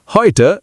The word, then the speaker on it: heute: EU is equal to OY sound. Heute is equal to heute, today.